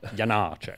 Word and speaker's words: Janáček: I was telling Shai earlier, Charles McCarris said you have to pronounce it eighth note and dotted quarter note. Janáček, which I'm never going to do. It's Janáček for me.